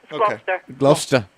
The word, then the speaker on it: Gloucester: cheese by the way oh it's got gloucester gloucester gloucester get it right i'm trying to get